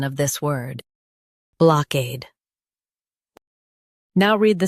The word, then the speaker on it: blockade: block ade, blockade Stress cade and keep block soft. It's quick. block ade, blockade Stress cade and keep block soft. It's quick. block ade, blockade Stress cade and keep block soft.